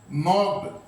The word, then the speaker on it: knocked: के साइलेंट है भाई इसमें, नॉक्ड, KNOCKED। और अब मैंने बताया था प्रीपोजिशन वर्ब के साथ है तो प्रीपोजिशन वर्ब के साथ रहेगी एट योगा।